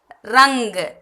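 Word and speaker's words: रंग: ரங்கு, ரங்கு. இது இங்கு, இது இக்கு லாஸ்டா வர்றதால ரங்கு.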